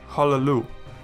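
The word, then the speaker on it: הַלְלוּ: In this case we have two lamets in a row, with a Shewa under the first of those. It is therefore vocal, and we pronounce it as Hallelu.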